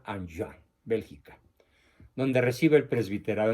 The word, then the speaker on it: Enghien: Como es francés, se pronuncia Anjouan, Bélgica, donde recibe el presbiterado.